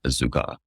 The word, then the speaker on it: azúcar: here, azeit and azúcar, are pronounced how they are despite the L in the beginning. And when you look at the Spanish translation, you could see there's no L sound or L letter here. Pronounced just azeit and azúcar without the lam.